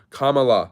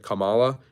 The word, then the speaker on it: Kamala: thank you for bringing that up about uh Kamala Harris somebody me mened to me the other day that I mispronounced her name I said Kamala it's Kamala and this person went off on